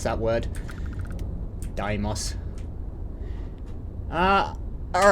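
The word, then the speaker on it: Deimos: yards can I have a look at this damos I know how to I know how to pronounce that word Daimos ah all right connected and let's hail it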